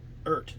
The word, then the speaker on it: Eart: And it is pronounced Eart, like dirt or hurt.